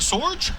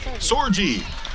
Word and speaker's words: Sorgi: The princess here on this float is is it Sorge? Am I pronouncing that right? Sorgi.